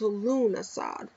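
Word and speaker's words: Lughnasadh: called lmas or lug lug nasad uh pronounced lunasad by the Kelts is the first of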